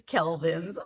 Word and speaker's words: Kelvin: 27 Calin or 2700 Calin Kelvin sorry if I've been saying celvin this whole time I apologize it's Kelvin I'll spell it um and uh if